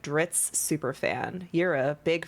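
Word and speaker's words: Drizzt: Um, the crazy thing about Dritz is that it rhymes with glitz, but he actually wasn't that glamorous.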